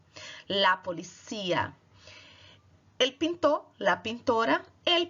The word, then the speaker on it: policía: Enquanto em português você fala a polícia, em espanhol você vai falar la policía. A sílaba tônica está no cia. La policía.